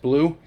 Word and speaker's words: BLU3: nemo and the nomad it's blu-3 but it's pronounced blue so i ended up